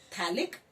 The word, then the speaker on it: phthalic: In this pH is silent, the name of this compound is the phthalic acid is there.